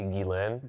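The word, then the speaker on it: Ghislaine: I mean, just think about this is when Jane Jizlane Jlane, how do I how do you pronounce? It's technically Guilain.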